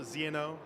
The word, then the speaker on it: ZNO: So it's Zno, ZNO.